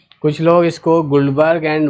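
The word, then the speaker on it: Guldberg: कुछ लोग इसको गुल्डबर्ग एंड वागे कहते हैं, कुछ लोग इसको गुल्डबर्ग एंड वेज कहते हैं। तो बोलने का अलग अलग तरीका हो सकता है।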